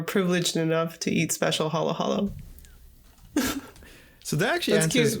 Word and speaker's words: halo-halo: one word, halo halo, which is kind of how you pronounce it as well, halo halo. It's not halo halo, it's halo halo. Usually Okay. ends up pronouncing it. Very subtle difference to the untrained ear.